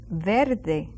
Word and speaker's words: verde: and remember I said sometimes when we speak very fast in Spanish you hardly hear that R Bel you can even um um mistake it for by an L Bel but it's ver